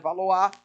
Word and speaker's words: Valois: Se escreve Valois, né? Mas no francês aqui tu vai lançar um sotaque diferenciado. Família Valois, iniciada aqui.